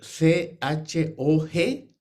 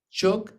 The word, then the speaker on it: chog: c h o g chog Z h a g o K puede ser también el final chock y esa zh se pronuncia un poco como eh Y y un poco tiene un cierto parecido con una y porteña y también con una J francesa Pero se parece aú